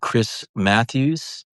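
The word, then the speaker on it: Crys Matthews: Also, there's an artist called Chris Matthews. She's brilliant. Chris is spelled Crys.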